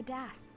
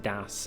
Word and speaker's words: DS: me that it's apparently supposed to be pronounced Das and not Das cuz I I've always called it the Das finding a few more keys